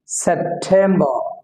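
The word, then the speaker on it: September: August August August সেপ্টেম্বর এখানে শেষের যে র উচ্চারণ হবে নাটা উচ্চারণ হবে সেপ্টেম্বর রটা ব্রাকেটে দিয়েছি এটা উচ্চারণ হবে না সেপ্টেম্বর সেপ্টেম্বর সেপ্টেম্বর একইভাবে ও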